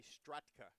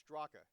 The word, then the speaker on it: Straka: Don't call me Stratka. It's Straka. there you go.